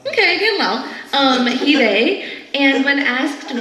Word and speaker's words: Dan Lau: Literally in the notes it says Dan like Ann. I'm sorry, what else would Dan rhyme with? Okay. Oh, and Lau slant rhymes with owl.